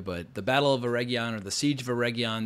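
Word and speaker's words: Eregion: namely the siege of Aron you got to roll your RS when you're talking about the show because all the actors certainly do but the Battle of Aron or the siege of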